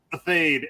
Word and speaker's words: Athayde: your last name a fade at least in the states that's how we say it okay I finally learned